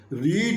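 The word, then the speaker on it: read: रीड रेड रेड रीड के तीनों form एक ही होते हैं। स्पेलिंग में कोई अंतर नहीं है। उच्चारण में अंतर रहता है। रीड पहला फॉर्म को बोलते हैं और रेड रेड सेकंड फॉर्म को बोलते हैं।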